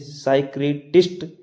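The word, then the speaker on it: psychiatrist: Psychology पढ़ रहे हैं, फिजिकोलॉजी नहीं पढ़ रहे हैं, तो हम यहाँ पर पी साइलेंट। जैसे साइक्रेटिस्ट, और ऐसे ही अगला साइकोथेरेपी।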